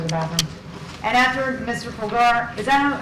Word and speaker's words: Pulgar: Pulgar, is that how you say it?